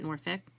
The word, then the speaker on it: Norfolk: And I said Norfolk, but if you are in Virginia, they actually pronounce it Norfolk.